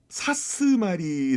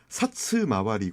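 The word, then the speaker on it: 사츠마와리: 좀 들어주실까요 예 그 사스마리 아고 하는데 원래 정확한 발음은 사츠 마와리 그요 어 경찰서에서 숙식하면서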